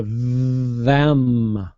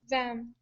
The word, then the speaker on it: them: have one for you the th on the word them so you want to try to vibrate that th it's a voice th so you go them them there you go yeah